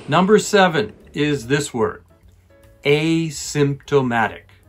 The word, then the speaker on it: asymptomatic: seven is this word asymptomatic a little bit difficult it has many syllables a symptomatic five once more asymptomatic